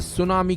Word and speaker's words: tsunami: पहले जानते हैं कि सुनामी का मतलब होता क्या है दरअसल सुनामी शब्द जापानी शब्द ूस यानी बंदरगाह यह तट के नामी यानी लहर से मिलकर बना है इसमें टी अक्षर साइलेंट होता है सुनामी आने की सबसे